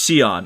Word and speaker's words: Shion: Is it Shyon or Shian? Poor Brown is is not good at pronunciation. Please educate me. It's Shion.